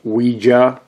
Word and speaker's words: Ouija: Some people want to call them Ouija boards, okay? Me, I prefer to call them, as it's pronounced, Ouija, okay?